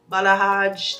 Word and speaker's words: balayage: sponsoring this video it is a body wave balaj that's how you pronounce it like it's more like I like